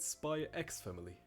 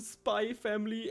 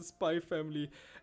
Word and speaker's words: Spy x Family: I think I'll pronounce it spy x-family no you're wrong the author said it's the Spy family and the voice actors during the podcast also said the Spy family and you're wrong and